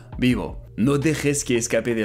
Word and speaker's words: vivo: And I'm also doubtful about the V sound, but it should sound closer to a B, so vivo.